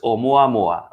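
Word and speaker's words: ʻOumuamua: Okay, it's actually pronounced Oumuamua.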